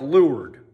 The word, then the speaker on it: leeward: side is lowered side it's spelled leeward but it sounds like lured or the lee side